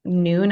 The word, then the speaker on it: Nuun: Some people like Noon. I think it's spelled Nuun.